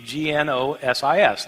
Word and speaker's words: gnosis: for knowledge is gnosis spelled with the g GN o s is gnosis means knowledge these people